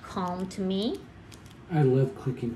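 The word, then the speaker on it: Calme: These are the Pentel Calm, but it's spelled C-A-L-M-E, and I think it's Calm, right?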